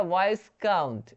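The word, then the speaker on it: viscount: वैसे विस्काउंट, ये हो जाएगा वाइस काउंट, वाइस काउंट का मतलब क्या होता है, एक तरह की उपाधि है, वाइस काउंट, ठीक है।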